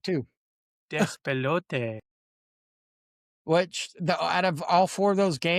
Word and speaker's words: Despelote: Despelote, and Dispatch. I was gonna say, go ahead, say that. Say that. I did, and I said it right too. Despelote.